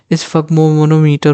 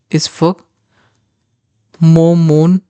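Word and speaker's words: sphygmomanometer: ठीक है, इसको हम पढ़ें तो स्फगमोनोमीटर होता है ये। ठीक है, इसकी प्रोनाउंसिएशन यहाँ पे लिखी हुई है, अगर आपको दिक्कत हो रही है, इसफग मोमोनोमीटर।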